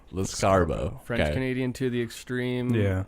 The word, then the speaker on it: Lescarbeau: Lescarbeau. Snarsbo. Escargot. How do you actually pronounce it? Because I don't know. Lescarbeau. Lescarbeau.